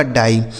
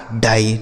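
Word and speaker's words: die: इस आई और ई का उच्चारण आई हो गया आपका डाई। डी आई ई यह लिखा गया आपका डाई।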